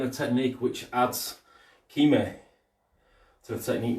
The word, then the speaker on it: kime: the technique, which adds kime to the technique. Not kame, not kamai, kime. K-I-M-A-E, I believe it's spelled, kime.